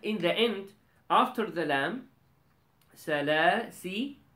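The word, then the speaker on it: سلاسلا: this alif is silent this alif is silent when we connect but when we stop then we pronounce this alif okay we call this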